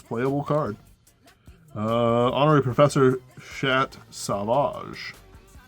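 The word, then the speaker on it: Sauvage: Honorary Professor Chat Savage. Savage. It has a U in it. It's not silent. It changes it changes how the A is pronounced. So fucking stupid. It's fucking French.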